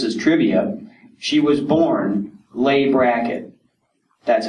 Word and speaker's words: Leigh Brackett: not which this is trivia she was born lay bracket that's how you pronounce it and when she started to uh